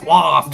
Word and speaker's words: waft: It's neither of those. It's waft. Waft.